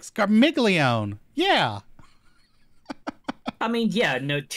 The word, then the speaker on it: Scarmiglione: doing um yeah i'm i'm so used to being scarmiglione and really pronouncing that g but it's apparently hard silent with the italian so i'm trying to